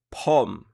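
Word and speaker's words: ผม: อ า จ La consonne initiale donne le son P, il n'y a pas de voyelle donc c'est le O court et la finale c'est le M, donc pom. Il n'y a pas de signe de tonalité, la syllabe est vivante puisqu'elle se termine par une sonore, la consonne initiale est haute donc le ton est montant.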